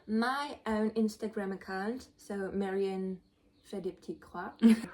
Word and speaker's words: Marianne fait des petites croix: Her Instagram handle is pretty hard to pronounce when you're not French, and so it does mean Marion does little X's. So it's not Marion cross stitch or stuff, but it's like does little X's, and it's hard to say. So pronounce it the right way.